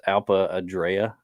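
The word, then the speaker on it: Alpe Adria: did uh I don't even know how to pronounce Alpa adrea is is how you pronounce it alria uh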